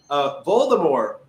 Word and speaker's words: Voldemort: because, like, I know Voldemort is generally pronounced incorrectly because of the movies, right? Because the movies were garbage that had no idea what they were doing. Voldemort, the T is silent, right?